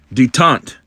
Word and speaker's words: détente: Detente. Never heard that word before. Okay, detente. The easing of hostility or strained relations, especially between countries. Okay. All right. So let's go back here. He cried detente and Angola as examples of the Ish diplomacy.